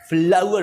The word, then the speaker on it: flour: FLOWER हो या FLOUR हो, दोनों की सेम प्रोनाउंसिएशन है। Both words have the same pronunciation, mind you. फ्लावर पढ़ना है, उसको फ्लावर या फ्लोर नहीं पढ़ना या फ्लावर नहीं पढ़ना। इसको आमतौर पर फ्लोर पढ़ लिया जाता है, जो कि सरासर गलत है।